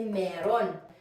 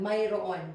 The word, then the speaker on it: mayroon: with this one actually in spoken Filipino we say meron so but actually the correct pronunciation is this one Myron but as I said